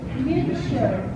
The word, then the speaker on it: future: Look, there are some times, like in this, where the T doesn't sound like a T. Yeah. Future. Exactly. This is like future.